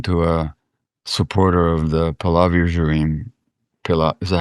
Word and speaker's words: Pahlavi: Um, let's say you're talking to a supporter of the Pahlavi regime. Is that how you say it? Pahlavi?